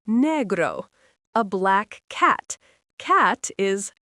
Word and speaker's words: negro: Black is negro, pronounced negro.